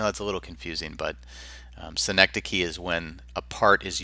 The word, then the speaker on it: synecdoche: Synecdoche, not synecdoche, or however, I've heard this pronounced a lot of different ways, but synecdoche is the correct pronunciation.